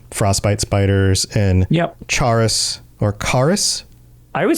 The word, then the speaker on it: Chaurus: Kaurus? Okay, so it's not a c h, it's a c sound. No, I refuse. Kaurus, because it looks like Chaurus, right?